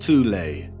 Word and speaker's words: Thule: society within Germany called The Soul Society sometimes alternatively pronounced toulay that had sub-factions within